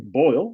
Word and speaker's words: Boyle: Looking at Nick Boyle, rhymes with Jack Doyle, may not play, so that should help Mark Andrews against the Steelers.